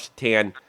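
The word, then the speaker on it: Šatan: You believe the guy's name's Satan? Pronounced Satan. Yeah, Satan. I think he said His name's Satan.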